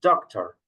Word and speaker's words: doctor: In Spanish, we say doctor. In English, we say doctor, no? The emphasize, the stress is in a different position, no?